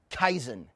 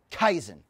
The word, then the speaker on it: kaizen: first word is pronounced kaizen kaizen say that word with me one time kaizen kaizen it's a very powerful word and kaizen is a japanese word it comes from the